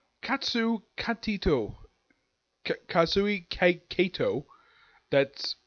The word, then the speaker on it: Kato: the name of katsu Kat Tito kazooie cake Kato that's how you pronounce the person's name now there are many